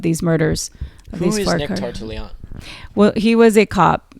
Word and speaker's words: Tartaglione: Nick Tartaglione, yeah.